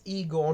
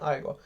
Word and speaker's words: Igor: Yes, Igor, not Igor. Igor. Bob yes, Igor. About the words normally pronounced. Igor is only that one character in Young Frankenstein.